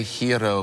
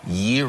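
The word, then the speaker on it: gyro: that a hero see I would say hero but it's actually guo Yoo like year like the yearo oh yo yeah okay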